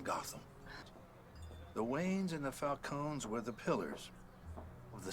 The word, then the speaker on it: Falcone: I do prefer it to be pronounced Falcone. No. No need to spoil Otherwise, it just sounds like an ice cream cone.